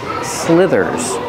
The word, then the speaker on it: slither: do you pronounce it use the short I like this is for the first vowel slit s Slither the th makes a voice sound like this and that SLI Slither Slither is a verb so I